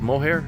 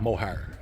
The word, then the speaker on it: Moher: I'm not sure how you say it. Moher. Moher. Like Moher. her.